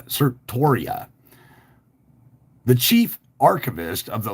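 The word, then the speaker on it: certiorari: the Supreme Court granted sartoria and I know I'm pronouncing that wrong it's c-e-r-t-i-o-r-a-r-i uh sir Toria the chief archivist of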